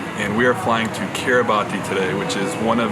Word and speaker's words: Kiribati: plans this week we're in Kiribati or as the locals pronounce it Quito bus I won't even try